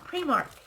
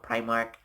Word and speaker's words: Primark: And you'll also hear a lot of the English vloggers and bloggers call it Primark. For some reason, they call it Primark, but the proper pronunciation is Primark.